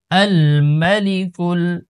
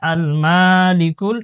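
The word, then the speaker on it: الملك: Calf লাম পেশ কুল, আল মালিকুল, আল মালিকুল, আল মালিকুল, এখানে কিন্তু মাতে কোনো টান নেই। অধিকাংশ মানুষ এখানে আল মালিকুল টান দিয়ে পড়ে।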